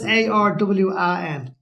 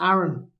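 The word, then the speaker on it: Arawn: No, it's Arwan. Okay. Right? It may have been pronounced Aaron as well.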